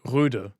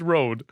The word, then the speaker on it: Rode: So many people in Germany, me included for the longest time, say Röde because they have the like Danish O with a like line going through it, which is pronounced Ö.